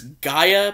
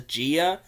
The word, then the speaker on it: Gaia: greek goddess of the earth which the correct pronunciation is gaia but for some reason she pronounces the gia it should be gaia but it's the way